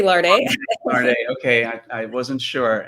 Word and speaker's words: Larde: You can say Larde.